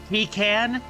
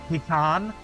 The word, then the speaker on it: pecan: type of nut and it can be pronounced in generally three ways. Uh, pecan, pan, and and and pan. Like shortening it even more to pan. And I say p I I say pean.